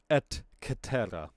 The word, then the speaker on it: et cetera: Or if you want to pronounce it the proper Latin way, et cetera, et cetera, et cetera.